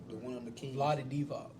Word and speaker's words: Vlade Divac: Vlad Divac. Who? I don't even know who that is. The one on the Kings. Vlade Divac. Yeah. That's how you say it.